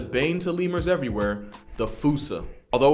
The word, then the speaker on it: fossa: And of course, we're talking about Madagascar's top predator and a bane to lemurs everywhere, the fossa. Although with its spelling, I'm pretty sure it's actually fossa.